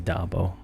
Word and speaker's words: Dabo: It is Dabo.